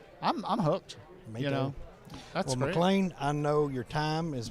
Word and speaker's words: McLain: i'm from scotland so my name is spelled m-c-l-a-i-n so you know don't americanize it but it's uh mclean mcguire you can find me